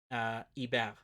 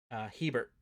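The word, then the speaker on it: Hébert: that one would be Hebert, or Hebert. if you want to do the English pronunciation.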